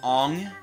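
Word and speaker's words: Aang: story they pronounce it ong and they pronounce it sukkah oh my god because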